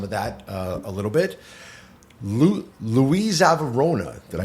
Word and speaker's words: LUISAVIAROMA: LUISAVIAROMA, did I pronounce it? LUISAVIAROMA. LUISAVIAROMA, yes.